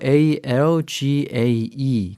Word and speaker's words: algae: A-L-G-A-E 그렇게 스펠링은 그렇게 되는데 발음은 algae 이렇게 됩니다. 발음에 좀 주의를 하시고요.